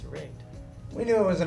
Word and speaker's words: RiGd: above rigged um yeah the name comes from the idea of your rig obviously your vehicle um and then also when you're all geared up as you intend for a given trip you're all rigged up so rigged is the name uh the Mis mispronunciation of rigid is probably the one that we get the most um it's kind of